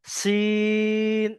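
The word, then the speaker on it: سين: আচ্ছা, সিন এর একটা সিকির মতো আওয়াজ হবে, বলেন আপনারা সিন। জি, আর শিনের ক্ষেত্রে বাঁশি যেমন বাজে এটা দুটোর মধ্যে তফাৎ তফাৎ পাচ্ছেন না জি?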